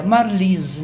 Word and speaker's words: Marlise: O meu nome, por exemplo, é escrito com E e as pessoas sempre pronunciam com som de I, né? Marlise, né?